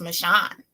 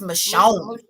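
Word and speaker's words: Michonne: tell you something what her name is not pronounced michon it's michon M or something yeah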